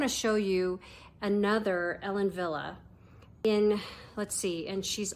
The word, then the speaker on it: Wille: and it's spelled w i l l e pronounced Villa so this is Arrow now let's put on